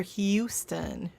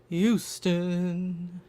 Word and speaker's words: Houston: drives me nuts because he doesn't pronounce the h in Houston and I don't know why that just irritates me but hopefully you guys don't hopefully you pronounce the age in Houston because that will annoy